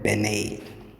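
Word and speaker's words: Binet: Alfred Bennett, somebody told me you have to pronounce it as Alfred Bennett, the one who founded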